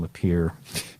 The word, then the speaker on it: Lapierre: whatever, but I fictitiously named the bus driver Kevin Lapierre because it rhymes with deer.